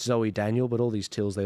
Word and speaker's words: Zoe Daniel: terms of the panel sorry I said Z stel it's not Z stegle it's Zoe Daniel but all these teals